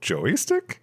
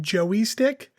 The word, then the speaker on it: joystick: We found out not too long ago that Mariah pronounces it Joey stick. Oh, like what? Like a baby kangaroo. No, I get it. But why? There's no E in there.